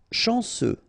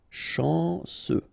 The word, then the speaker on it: chanceux: Chanceux, final X not pronounced, this CEU, ce, chanceux, chanceux. De luxe.